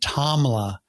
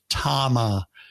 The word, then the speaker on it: Tama: So I said it wrong. I said Tamla because I was thinking Tamla, that was a record label. That was a Motown record label. Stevie Wonder did a lot of Tamla records. So I was thinking, maybe that's what it is. Well, no, it was Tama.